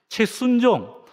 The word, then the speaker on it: 최순종: 교회 일 굉장히 열심히 하고 있고, 발음 잘못하면 이 최수종이라고 되는데, 최순종.